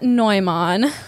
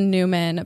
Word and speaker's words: Neumann: Teresa Neumann, and I could just say Teresa Newman, but she's German, so I'm going to say it like I think it's supposed to be said.